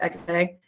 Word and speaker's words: Hecate: comes to the pronunciation, if you look at the actual Greek pronunciation, H is really one of those kind of like silent. You never really hear it. So it's actually Hecate.